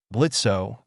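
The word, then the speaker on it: Blitzø: to do that here blitzo the O is silent the Imp in charge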